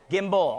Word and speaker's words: gimbal: I think you gave away, was it a gimbo or something up here earlier like that? Did I say it right? A gimbo? Somebody tell me if I'm saying it right. Yes? You guys don't know. Gimbal? Gimbal.